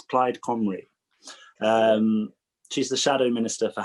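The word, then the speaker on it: Plaid Cymru: region for plyd camry i had to look up how to pronounce it properly i think it's clyde comrie she's the shadow minister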